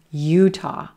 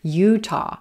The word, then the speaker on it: Utah: Utah. Utah, blue moon, Utah. Again, no schwa in this short state name, but that second syllable is quicker. Utah.